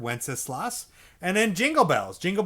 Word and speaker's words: Wenceslas: That's how you pronounce that word, Wenceslas.